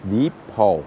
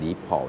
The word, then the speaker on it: Deepal: เขา ให้ ชื่อ ว่า Deep PA นะ ครับ ให้ ออก เสียง แบบ นี้ นะ ว่า เป็น Deep PA นะ ครับ ส่วน ตัว